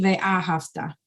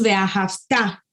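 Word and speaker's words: וְאָהַבְתָּ: Es importante ponerle el acento en la última sílaba para recalcar que el verbo es en tiempo futuro y no pasado. Por ejemplo, no voy a decir, no es correcto decir ve'ahavta. Ve'ahavta. Lo decimos ve'ahavta.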